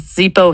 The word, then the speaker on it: Zippo: Z i p o like zip it to me. It's fast. It's two syllables. It sounds like a movement. Does Zippo hit that Bernay's trigger of speed and efficiency?